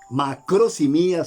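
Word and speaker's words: μακροθυμία: longanimidad y aquí macrosimía macrosimía sí así como lo Oye macros y mía así se pronuncia viene de macros grande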